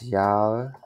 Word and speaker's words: Jahr: Das Jahr. Das Jahr. So you can think not G, you can think like this sound, das ja.